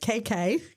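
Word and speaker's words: queque: And it's called cake, but it's spelled quue eq. So, we call it KK.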